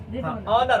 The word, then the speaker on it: honor: This ऑनर, ऑनर। अब देखो ये ऑनर जो जाता है एच साइलेंट होता है इसमें, ठीक है, याद रखना है।